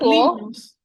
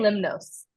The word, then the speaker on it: Lemnos: is from there that's so lios lios yes lios lios I was saying limnos wrong yes but we know